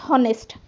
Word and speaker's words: honest: in honest honest silent so we have to pronounce this as honest not honest honest o o honest means o o sound